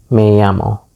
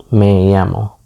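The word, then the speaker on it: llamo: notice with K yamas the Double L there is actually pronounced why and to answer this you can just say Mayo Mayo let's just go ahead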